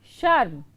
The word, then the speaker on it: शर्म: बाद है दूसरा शब्द शर्म ठीक है श और म के ऊपर रेफ है तो शर्म तो यह र का जो उच्चारण है वह रेफ के केलिए के तरह है तो आपको इसको लिखकर